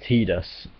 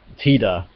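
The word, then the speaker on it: Tidus: he's ever appeared in basically has said that tedus is an acceptable English pronunciation and that's how it's pronounced in Kingdom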